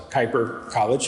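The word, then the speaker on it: Kuyper College: we bring young men onto a college campus kuiper college you did very well it's exactly how it's pronounced they live as college students so it's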